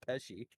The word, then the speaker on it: Pesci: You called him Joe Pesky instead of Pesci.